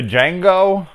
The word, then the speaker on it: Django: so yeah Django Unchained de Django the D is silent I don't think I've